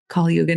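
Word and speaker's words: Kali Yuga: It's a lot of unrest and we're coming out of Kal Kaluga. I think I'm saying it right. Kalyuga now is what my mentor told me.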